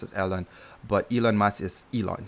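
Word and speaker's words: Ellon: uh his name is ellen e-l-l-o-n and it's pronounced as ellen but elon musk is elon so elon musk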